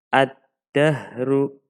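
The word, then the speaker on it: الدَّهْرُ: Ad-dahru.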